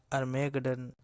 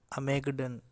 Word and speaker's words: Armageddon: ऐसा ही एक बहुत ही इम्पोर्टेंट वर्ड अर्मेगडन, अमेगडन, जिसके दो अलग अलग थोड़े स्लाइटली डिफरेंट प्रोनाउंसिएशंस हैं यूके और यूएस में, वो हम डिस्कस करने जा रहे हैं।